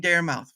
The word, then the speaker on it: Daramouthe: some people keep saying Daramouthe. For some odd reason, I say it correctly, and everyone's like, "Wait, Daramouthe? Silent. It's a silent E. Silent E.